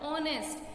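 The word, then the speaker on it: honest: लेकिन जब हम इसे प्रोनाउंस करते हैं तो ये क्या बन जाता है? ऑनेस्ट. ओ का साउंड आ रहा है ना, तो आपको कॉन्सेंट्रेट ये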